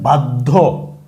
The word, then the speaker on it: বাধ্য: নই তো এই যে বাধ্য এখানেদ দ এর সাথে শেষ বর্ণদ এর সাথে জ ফলা হইছে এই কারণে ধ কেমন উচ্চারণ হইছে দত্ত হইছে বা ডাবল উচ্চারণ হইছে পদ্ধ বাধ্য তাইলে এই